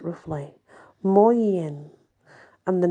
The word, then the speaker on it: Morgen: back in the day, in the 12th century, was pronounced Moryen. Geoffrey was collecting local stories from Wales and publishing them in France, and while he certainly didn't invent Moyen for his Viti Mellini,